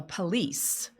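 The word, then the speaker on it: pelisse: On the far left, you're looking at a what they call a police and it's spelled this way.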